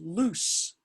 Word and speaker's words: lose: Well, if this one is choose, you'd think that one is lose, right? But it's not. It's loose, like tooth.